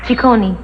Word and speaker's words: Ciccone: And the name is pronounced? Ciccone. Ciccone?